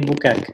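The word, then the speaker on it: Boukakes: Les Boukaks ou les Boukakès? Les Boukaks, Les voilà. Boukaks, voilà.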